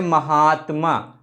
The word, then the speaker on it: महात्मा: बोलते हैं महात्मा महात्मा महात्मा जब बोलेंगे तो शब्द के मध्य में हम लोग दीर्घ का उच्चारण करेंगे जैसे महात्मा ठीक है या एक